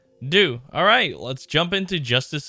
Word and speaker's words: Deux: Okay, well, guess that's, I would not have thought it was said as that. Do. Alright, let's jump into Justice a do.